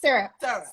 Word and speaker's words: SRP: It looks like SRP, but it's pronounced syrup.